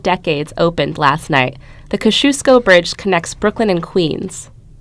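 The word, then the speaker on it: Kościuszko: say Kosciusko you're wrong the only correct way to say the word is Kosciusko so repeat after me they cause shoes great the Kosciusko bridge is named after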